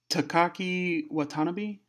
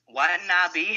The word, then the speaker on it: Watanabe: Adam Page with BJ Whitmer versus Will Ferrara versus Takaki Watanabe versus Moose. Who do you got? It's Watanabe, man. Watanabe. Whatever. Watanabe.